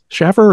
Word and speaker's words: Shaffer: theatrical murder and find stories about Anthony Schaffer Schaffer is it is that the right pronunciation exactly yes yes okay good because I've